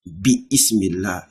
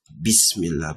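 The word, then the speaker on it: بسم الله: For example, you don't see bis Bi-ismillah. You don't say bi-ismillah. You say what? Bismillah.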